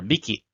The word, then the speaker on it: 匹: so here we use the counter hiki or biki counter for small animals so here because cats are small animals we use this counter we have this kanji here and it is pronounced as hiki or miki depending on the numbers so we